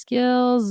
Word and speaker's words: skills: My strongest skills are this here. It's a Z. Skills are skills. So it's like the the Z sound.